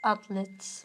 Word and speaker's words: athlete: Oh you can um you can say um soccer athlete. Yes. So that's like like it's uh in Turkish you say atlet. Atlet. In English it's athlete. Athlete. Mhm. Athlete. Athlete. Like like the word thank you.